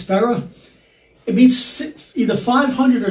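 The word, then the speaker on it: σπεῖρα: The word in the Greek that is spiera, but actually pronounced spera, it means either 500 or 600 men, which I never realized it was that many people.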